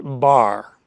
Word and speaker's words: bear: People in that part of the United States sometimes have a distinctive accent, and the word bear might be pronounced bar.